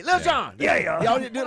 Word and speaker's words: Lil Jon: And then Lil Jon is Oh, my doing goodness. the Why do you say it like that? Baltimore Ravens, Cincinnati Bengals because it's spelled L-I-L. I know Lil. how it's spelled.